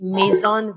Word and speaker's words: Maizon: Our Instagram page is Mason Val. It's spelled m a i z o n.